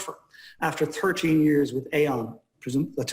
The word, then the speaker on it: Aon: After 13 years with Aon, that's how you say it, AON, where he